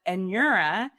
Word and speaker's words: Anura: So you can either pronounce it Anura, or if that's too hard for you, which is too hard for most people, you can pronounce it like this, like Anura. So AN-YOUR-A. Yes, there's jokes that come along with that, but Anura is how I typically say it, and I'm comfortable with either way.